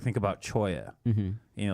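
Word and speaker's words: cholla: one type of Toya the Choya cactus again if you're typing it phonetically it's Chola c h o l l a it there's it so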